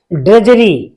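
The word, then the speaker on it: drudgery: इसमें D silent रहेगी, इसमें हमेशा डी साइलेंट रहेगी। इसे हम पढ़ेंगे ड्रेजरी।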